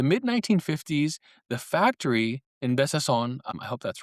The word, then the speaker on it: Besançon: Besançon, which I think Besançon, it's Besançon. It has a little accento, but it's underneath this C, which is a nice